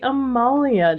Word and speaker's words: Amalia: It is not the Amelia jacket, it is the Amalia jacket, and I've just been saying it wrong this entire time.